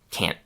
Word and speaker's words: can't: a word, they often let the air build up in their mouths, but then don't make that explosion.